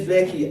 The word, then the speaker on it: 6LACK: We can't skip Blackie, dog. Yeah, we're going to that. We're heading to that. After meeting Six Leg, pronounced as Black, and call him Ricardo.